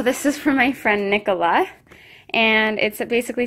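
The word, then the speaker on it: Nicolas: Love, Nicola, aka who your parents named you after, because we realized until after we had chosen Nicholas's name that Nicholas in French is pronounced Nicola.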